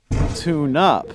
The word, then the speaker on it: tune-up: verbs and phrasal nouns tune up notice that the stress falls on the preposition for verbs pick up drop off tune up for nouns stress the first word pick up drop off a tune-up then listen to longer